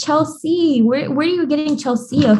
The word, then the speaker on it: Chelsea: Your first name is spelled like the way you sounded out, though. C, like the sea, like ocean. Yeah. They say Chelsea, Kelsey.